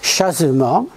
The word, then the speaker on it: chasement: a plus de tableau ça s'appelle chasement comme ça se prononce chasement et ça c'est très